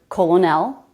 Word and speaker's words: colonel: This is the only word in English that I can think of that has an R sound but no letter R. The letters of this word make no sense for the way it's pronounced.